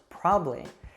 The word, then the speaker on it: probably: probably heard some like how probably is usually pronounced probably interesting often becomes interesting